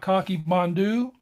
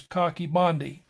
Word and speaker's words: Coch-y-Bondhu: A lot of people will call it Coch-y-Bondhu, but the Welsh pronunciation is Coch-y-Bondhu.